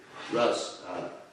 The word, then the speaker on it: ras: It's pronounced Rus, not Ras, but anyway. Rus.